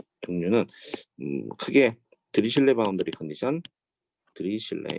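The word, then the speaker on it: Dirichlet: 종류는 크게 드리슐레 바운더리 컨디션, 드리슐레 이거 발음을 뭐 내가 뭐 유럽에서도 일을 좀 많이 해보고 미국에서도 해보고 그랬는데 뭐 사람마다 발음이 달라. 그러니까 너무 발음을 꼭 나 따라서 안 해도 돼요. 뭐 예를 들면 많은 사람들은 드리클렛이라고 해요. 드리클렛. 근데 나는 드리슐레라고 해요.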